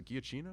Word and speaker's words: Giacchino: that to is a michael giacchino is a kia chino said he pronounced his name the guy who he